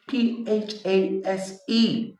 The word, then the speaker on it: phase: So in FACE, the letter F sounds F. In PHASE, the letters PH sounds F.